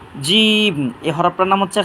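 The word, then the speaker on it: ج: হরফটার নাম হচ্ছে জিম জিহ্বার মাঝখান তালুর মাঝখান থেকে উচ্চারণ করি তিনবার উচ্চারণ করি ইনশাল্লাহ জিম জিম জিম এই হরফটার নাম হচ্ছে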